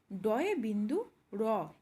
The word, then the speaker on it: ড়: হলো প্রথম পিঠ দেখো এটির হবে ড এ বিন্দু র এখানে যে র এর উচ্চারণটি আসছে সেটি একটু জড়িয়ে হবে একটু র এরকম টাইপের যেমন ধরো কাপড়